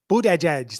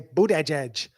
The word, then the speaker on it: Buttigieg: Buttigieg. That's how they say it. They say Buttigieg.